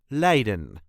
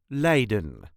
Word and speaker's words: Leiden: accent the city of Leen this is the way us duchies say Leen Leen so there is a very light emphasis on the first syllable le le dun all